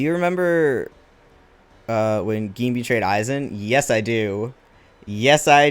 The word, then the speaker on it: Aizen: I also pronounced Aizen wrong for a long time because I didn't know how Japanese names were pronounced. I thought it was Aizen, but no, it is Aizen.